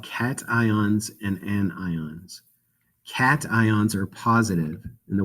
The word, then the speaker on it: anions: ions are called cations anions are negative don't say anyons that's not how you pronounce that it's an ions and ions there are